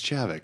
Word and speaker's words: Javik: God, Javik. It's Javik, right? I think it's Javik. oh, I call him Yavik. Javik. Yeah. Yavik, yeah. It's not Okay. Yavik, it's Javik.